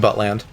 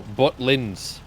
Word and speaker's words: Butlins: Wait, so you are saying Buttland? No, Butlins. Buttlind. Still. Wait, is it? B-U-T-L-I-N-S. Yeah, Butlins. But. Buttland. I thought you said Buttland. Joe, you Like, said Butlins. Those are not the same thing.